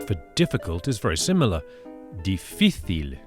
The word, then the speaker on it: difícil: Difícil, with the accent or the stress on the middle syllable, on the middle I.